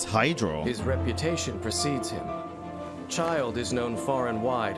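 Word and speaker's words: Childe: now we're on to child thank you for letting me know how to pronounce child's name as well instead of me calling him chill day i appreciate it guys um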